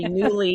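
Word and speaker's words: Nuuly: up I would say it's spelled n uu l y because a friend recommended it to me a few months ago and I couldn't find it because I heard her say newly you didn't think that's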